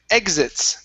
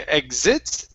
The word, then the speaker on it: exits: next is the word exits the stress is at the very beginning instead of exits okay exits it's exits Jessica exits the principal's